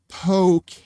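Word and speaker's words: poké: There's this stuff called poke, but it's spelled poke. But the E, there's a little on the E, so it's poke.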